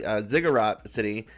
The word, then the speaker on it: Zigurat City: And I want to talk about, especially about your city, Zigurat City, if I pronounced that correctly, right?